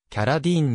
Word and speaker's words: Carradine: れているが米国ではキャラディーンに近い発音で呼ばれるニューヨーク出身父親